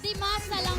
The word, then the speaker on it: Dimasalan: Dimasa lang pala ang pag-pronounce nun.